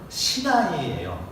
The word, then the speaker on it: 시나이: 근데 이 신의 산이라고 할 때요, 이 시내라는 말을 원래대로 발음하면 시나이예요. 원래대로 발음하면 시나이입니다.